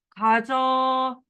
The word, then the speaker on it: 가져: 가져. 어로 발음해야 되니까.